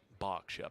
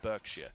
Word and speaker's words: Berkshire: by having a giant berkshire palace uh preventing them you've got to say it like that that's how the english say it it's not berkshire it's a is coming